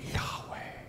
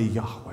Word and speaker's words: Yahweh: actually, it's closer to Yahweh. Everybody say Yahweh. Yahweh. You see, when this name is, according to the experts, properly pronounced, it's as if the sound of breathing in and out.